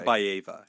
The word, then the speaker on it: Ortabayeva: pronounces it Beautiful. Ortabayeva.